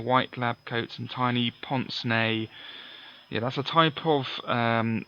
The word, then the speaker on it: pince-nez: Anyway, and it's pronounced pince-nez, I think, because it's French for pinch nose or something like that.